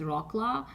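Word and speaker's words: Wrocław: Poland called brl uh Americans call it pronounce it as rockla so it's very it's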